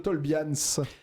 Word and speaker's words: Tolbians: Bonsoir The Tolbians.